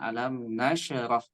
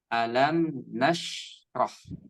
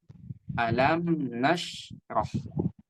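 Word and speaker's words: ألم نشرح: Di sini ada shin yang dia itu sukun. Shin yang dia itu sukun dan ini tidak memantul ya, barakallahu fik. Maka bacanya bukan alam nasyrah, tidak seperti itu, tapi dia baca dialirkan saja alam nasyrah seperti itu. Saya ulangi, alam nasyrah.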